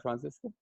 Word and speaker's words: Franziska: awesome okay so uh francisco a little little okay guys it does she spells it with the z but i think it's pronounced with the c is that correct uh francisco yeah it's pronounced like